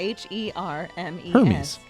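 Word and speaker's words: Hermès: You said it, but you said it wrong. Versace. L'Amis? Hermes? Hermes. Hermes with a h e r m e s. It's No, but in in fashion they call it Hermes.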